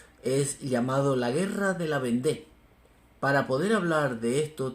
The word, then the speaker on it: Vendée: horrenda masacre anticatólico de la vende o como se dice en español La vendea pero a mí me gusta más como se pronuncia en francés la vendé con dos G la